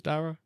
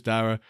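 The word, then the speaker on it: Darragh: is it was darra right David it was darra yeah it was darra which put the game um which post me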